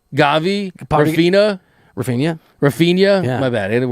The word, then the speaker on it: Rafinha: Rafinha. Yeah. My bad. I didn't wear the pronunciation. I liked it. I like it. Rafinha.